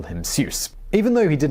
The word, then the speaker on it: Seuss: the pen name dr seuss seuss was his mother's maiden name and when he was born his parents made it his middle name in german it's actually pronounced zoice which i'm sure some